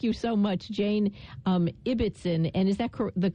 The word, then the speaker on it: Ibbetson: okay Jane thank you so much Jane um ibbitson and is that the correct pronunciation by the way yes it is ibbitson yes IBB t s o n nutritionist author